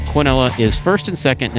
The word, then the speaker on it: quinella: the two dollar quinella so canelo is sometimes pronounced cornella i know some people get you know funny about that so keenela quinella is first and second